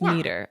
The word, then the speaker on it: Meader: very excited are we are we saying your last name right Elise meter I feel like I should know the answer to that but just what if I've always been saying it wrong forever no that's correct that is correct uh all right so